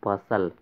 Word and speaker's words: bustle: देखिए BUSTLE, यहाँ पर फ्रेंड्स टी साइलेंट है, इसका प्रोनाउंसिएशन जो करेंगे हम लोग बसल। ओके, यहाँ पर हम लिख रहे हैं आप लोगों को समझने के लिए BUSTLE, यहाँ पर टी साइलेंट है, इसको बसल पढ़ेंगे।